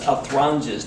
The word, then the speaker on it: Athronges: And the best pronunciation I heard was Athronges, not Athronges or anything like that.